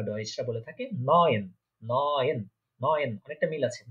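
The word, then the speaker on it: neun: তারপর হচ্ছে 9 বা 9 যেটা বলে থাকি আমরা বাংলাতে, সেটাকে জার্মান বা ডয়েচরা বলে থাকে নয়েন, নয়েন, নয়েন, অনেকটা মিল আছে 9 নয়েন।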